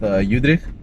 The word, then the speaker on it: Eudricht: Look, there's an Afrikaans way of saying my name, which I teach the guys. It's Eudricht. Eudricht, okay, but nice. Then when I tell them how to pronounce it, I say use the letter E and the number 3. It says Eudricht. Eudricht.